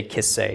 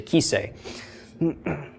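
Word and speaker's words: כִּסֵּא: it's a throne but it's hard to say kiss say it's easier to say ki say okay so but it doesn't the way it's spelled doesn't have a goat in it it just has a CEREC so that's the one you'll probably catch me on mispronouncing but whatever the case the way it's taught in this course is that on its own it's a short I with a yo'd it's a long e ok so ok so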